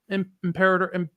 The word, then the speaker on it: Imperator: Imperator.